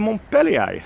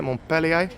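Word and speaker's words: Montpellier: come to my next stop, which is the Montelier. And yes, that is how you say it. Melier.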